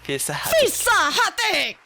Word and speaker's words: في صحتك: Fisa Hafik or Hatik? Hatik, yeah. Fisa Hatik. 2025 USA number one.